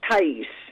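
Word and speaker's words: Thaïs: And kind of like her name is Thai with the umlaut, little dots over it, and S. And that's pronounced Thais.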